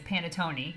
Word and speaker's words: panettone: it wrong even though I'm learning Italian is panettone I think that's how you say it correctly